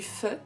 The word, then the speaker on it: pho: livre pour l'amour du feu alors je sais ça s'écrit faux mais il me semble que ça se dit fort c'est de loan ly